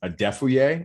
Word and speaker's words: Adefuye: was very very close adefouye is the most common way that people uh uh pronounce that um a defuyer a defuye if you're nigerian but uh uh yes